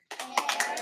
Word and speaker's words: errand: Why does it have 2 R's? Errand. Clap it. Errand. It has 2 syllables, so they had to double that R.